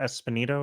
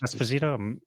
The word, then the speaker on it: Esposito: that one actor whose name I could not pronounce Carlo uh yeah exactly yeah Giancarlo Giancarlo espanito or yes Esposito I'm butchering his name he's amazing that's why